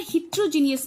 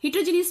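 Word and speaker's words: heterogeneous: हिट्रोजीनियस में क्या होगा, या हेट्रोजीनियस, बहुत से लोग प्रोनाउंसिएशन अलग अलग करते हैं।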